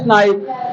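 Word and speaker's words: knife: प्रियांंशु is chopping veg table we नाइफ। प्रियांंशु सब्जी काट रहा है चाकू से। वाओ गन पढ़ फेंज also right. Good नाइफ। नाइफ is correct answer. Okay बच्चों। के साइलेंट। हां के साइलेंट रहता है।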